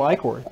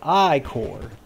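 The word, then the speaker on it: ichor: tell have a magical I cord that's pronounced I core truth dry for Whiteley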